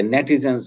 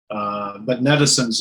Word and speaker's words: netizens: But netizens is a good word. As netizens, I don't even know if I'm saying that right, but as netizens, it rhymes with citizens.